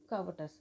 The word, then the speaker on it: covetous: Now sounds like covetous, not cautious, because some of the people pronounce it as a cautious.